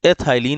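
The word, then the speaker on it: ethylene: ये हो जाएगा एथ, उसको हम प्रोनाउंस करेंगे आइलिन, ठीक है ना। तो एथाइलिन ऐसा कॉमन नेम हो गया।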